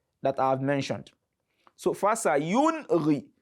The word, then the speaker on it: فَسَيُنْغِضُونَ: So fasayunri. So don't say fasayunri. When you say fasayunri, so you are trying to assimilate that nun sākinah, and that is wrong.